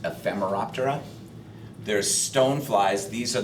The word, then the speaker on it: Ephemeroptera: the group um the order for mayflies is pronounced ephemeroptera there's Stone flies these are the ones that